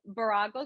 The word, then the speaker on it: Virago: that I get asked is how do you pronounce it and what does it mean so it's barago swim and um the term Bravo actually signifies